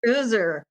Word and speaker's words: Oeser: for a while, and they're like, "No, it's Oeser."